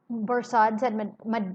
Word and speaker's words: Barsad: Barsad. So there is another spy, and his name is Barsad. You've met Barsad before. Borsod, said Defarge, making it French by pronunciation, but he had been